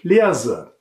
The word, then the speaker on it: leerse: Steht das S zwischen zwei Vokalen, wie bei ik leerse, dann wird das S stimmhaft ausgesprochen, wie bei summen.